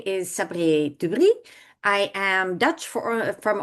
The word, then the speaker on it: Sabriye: Hi everyone, and welcome to the Divine Diva, where my guest for today is Sabriye.